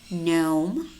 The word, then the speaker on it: gnome: And we also have words which contain the letter G, but it is silent. Gnome, rain, diaphragm, sign, Nash, gnat, design, design, campaign, foreigner, tongue, resign.